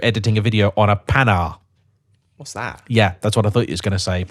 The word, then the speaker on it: Panhard: This morning when you came and collected me, I was halfway through editing a video on a pan.